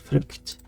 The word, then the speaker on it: frukt: In Swedish pronounced frukt. So it's pronounced a bit different, spelled a bit different.